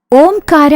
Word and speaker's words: ഓം: ആദ്യം ആ ദീർഘമായും ഉ ഹ്രസ്വമായും മാ ഹ്രസ്വമായും ഉച്ചരിക്കാം. രണ്ടാമതായി ആ ഹ്രസ്വമായും ഉ ദീർഘമായും മാ ഹ്രസ്വമായും. മൂന്നാമതായി ആ ഉ എന്നിവ ഹ്രസ്വമായും മാ ദീർഘമായും. ഞങ്ങളോടൊത്ത് ഓം എന്നുച്ചരിക്കുക. ഇപ്പോൾ നിങ്ങൾ ഓം എന്നതിന്റെ ശരിയായ ഉച്ചാരണ രീതി പഠിച്ചു കഴിഞ്ഞു.